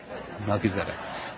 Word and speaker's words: Melchizedek: I'm I'm pronouncing it Melchizedek. Um I'm pronouncing I'm pronouncing it with the Hebrew and and and it's not it's not how most people are accustomed to the name.